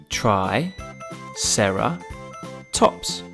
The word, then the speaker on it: triceratops: brilliant ankylosaurus now it's time for triceratops try sarah tops can you say it with me try sarah tops let's learn all about triceratops triceratops was